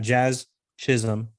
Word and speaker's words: Jazz Chisholm: But if you only got a few, you got Jazz Chisholm.